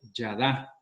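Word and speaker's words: ידע: la escuché por ahí, una palabra en hebreo que significa conocer y se pronuncia y se escribe yadá, ¿verdad?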